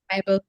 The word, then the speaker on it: Biebel: Uh, am I pronouncing that right, Biebel? Bible in Or German. Bible? Okay, Bible.